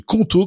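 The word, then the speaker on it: Qonto: Choisissez conto, ça s'écrit Q O N T O pour vous lancer.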